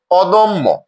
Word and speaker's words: অদম্য: এই শব্দটিতে আমরা দেখছি দ এর সাথে অকার রয়েছে এবং এর পরে জ ফলা রয়েছে। নিয়ম অনুযায়ী অকারের পরের ধ্বনিতে জ ফলা থাকলে অকারটি ও রূপে উচ্চারণ হয়, তাহলে উচ্চারণটি হয়েছে অদম্য। অদম্য। দয়ের অকারটি ও রূপে উচ্চারিত হয়েছে।